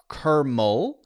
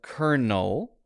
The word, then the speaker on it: kernel: a mistake on purpose I said kermo instead of Kernel and it caught it